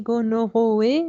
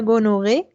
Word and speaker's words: gonorrhoeae: Alors, vous voyez comment ça s'écrit gonorrhoeae, mais comme vous le dites, c'est Neisseria gonorrhoeae et Neisseria meningitidis.